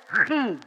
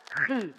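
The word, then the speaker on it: χι: sampai di sini oke kalau X dalam bahasa Yunani dibaca apa dibacanya khi bacanya apa khi bacanya khi kalau P di dalam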